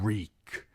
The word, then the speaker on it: Reek: I'm Reek. It rhymes with weak.